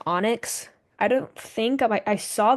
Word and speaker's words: EAUNEIGHX: And this weird name I invented in my dream, that's pronounced Onyx.